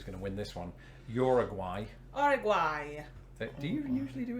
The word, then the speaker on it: Uruguay: to win this one i say uruguay but isn't it uruguay or something like that uruguay no completely completely off because i even said that i think that's like how south americans say it i make myself